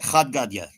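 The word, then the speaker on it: Chad Gadya: how do you say yeah you got it khad gadya yeah khad gadya is a it's an Aramaic song it's popular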